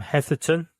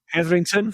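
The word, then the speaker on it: Hetherington: And I've got um I've got the the photographic book by Tim Heatherton. Heatherington say it right.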